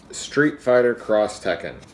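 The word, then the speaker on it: Street Fighter X Tekken: Syndrome but yet it's Street Fighter cross Tekken the x is pronounced cross uh this was a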